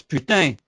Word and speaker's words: Putin: Russia his name is Putin his name is Putin the worst part about it is that's if I pronounce his name the English way then it sounds just like the french fries Putin but if I